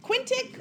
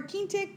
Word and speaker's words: quintic: guys pronounce this cuz it's actually pronounced two different ways kind of yeah quintic or key tic some people say Quinta